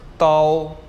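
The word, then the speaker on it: 到: है जी हमारे पास डी ए ओ ताओ ताओ ताओ और इसका मतलब होता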